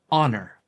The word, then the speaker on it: honor: However, note that in some words of French or vulgar Latin, the H is silent.